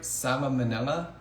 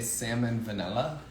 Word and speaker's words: salmonella: finished one without getting, another word I've mispronounced actually is salmon manila. I hope I said that right. Salmonella. I used to say salmon vanilla.